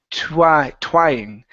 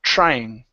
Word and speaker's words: trying: Now here you had said a TU, saying twying. So instead of twying, give me a CHR, trying.